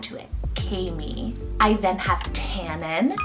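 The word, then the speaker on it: Kaemi: I have Kami, spelled K-A-E-M-I, Kami.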